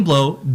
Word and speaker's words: Blot: So Donny Blot, B-L-O-T, the T is silent.